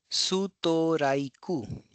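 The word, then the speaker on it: ストライク: So instead what we do, we use O. So we will use to, not tsu. We will use to because it will be still nearer to the English word pronunciation. And same goes with the line daji zu dedo. Instead of zu, we will use do. So do is still nearer to the than zu. Thus strike becomes sutoraiku.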